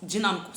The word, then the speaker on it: dinâmico: Dinã. Ah, tia, é no nã. Então eu vou ter o som de an e não de a. É um timbre fechado, é um acento circunflexo.